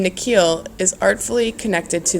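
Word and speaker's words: Nikhil: down at his sneakers the way the principal pronounces his new name is different from the way his parents say it the second part of it longer sounding like heel she bends down so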